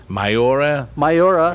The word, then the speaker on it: Miura: Miura.